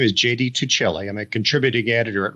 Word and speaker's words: Tuccille: about yourself sure enough my name is JD tuccelli I'm a contributing editor at reason magazine um